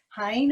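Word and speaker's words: Heine: It's called Hein, I think it's pronounced, H-E-I-N-E.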